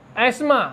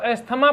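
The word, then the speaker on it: asthma: Next एस्मा, देखिए बहुत सारे बच्चे इसको एस्थमा पढ़ते हैं, जबकि TH का उच्चारण यहाँ नहीं होता है, इसका उच्चारण एस्मा होता है।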